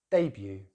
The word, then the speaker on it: debut: So the next word in British English is debut. With stress on the first syllable. In American English, they say it in exactly the same way, but put the stress on the second syllable. So instead of debut, it's debut.